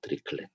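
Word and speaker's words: Dirichlet: 종류는 크게 드리슐레 바운더리 컨디션, 드리슐레 이거 발음을 뭐 내가 뭐 유럽에서도 일을 좀 많이 해보고 미국에서도 해보고 그랬는데 뭐 사람마다 발음이 달라. 그러니까 너무 발음을 꼭 나 따라서 안 해도 돼요. 뭐 예를 들면 많은 사람들은 드리클렛이라고 해요. 드리클렛. 근데 나는 드리슐레라고 해요.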